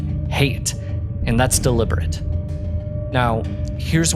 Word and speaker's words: Hayt: In the book, it's spelled h a y t, but it's pronounced like hate, and that's deliberate.